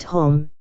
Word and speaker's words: homme: bark, he learned from D'Arnot that it was pronounced homme, and in the same way he was taught to pronounce ape, singe and tree, arbre.